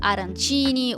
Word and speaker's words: arancini: Tortellini are from Bologna, Modena, that area which is in the north, while in Sicily you can try, for example, arancini or arancine. There's two pronunciations.